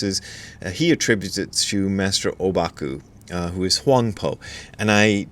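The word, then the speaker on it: Ōbaku: because that's sort of his proper name in in Chinese is huangpo that's how the the Chinese pronounce it the Japanese pronounce it obaku anyway here's what obaku AKA huangpo had to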